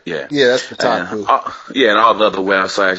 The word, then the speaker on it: Kotaku: Yeah, that's Kotaku.